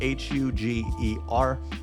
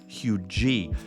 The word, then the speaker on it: Huger: neighborhood is if you never heard of Hui it's spelled h u g e r uh some people who aren't from around here like myself when I moved here pronounced it Huger but it's actually hugy now this neighborhood is kind of out in